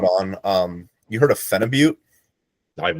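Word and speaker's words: phenibut: Um you heard of Fenibute? I've not. Fenut's a fun one. It's a very weird actually. I think it's pronounced fenibut and I've been saying it wrong the whole time because it's like Russian.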